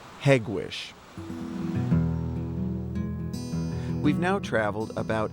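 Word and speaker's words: Hegewisch: For nearly 20 years, this plant in Hegwish produced the Ford Taurus, America's bestselling car.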